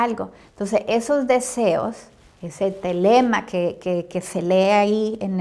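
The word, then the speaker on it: θέλημα: Ahora aquí la palabra selema, que es en griego, se refiere al deseo, a querer o determinarse a hacer algo.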